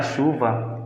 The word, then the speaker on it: chuva: letra X, sendo que o CH da palavra chuva é pronunciado com um som de X.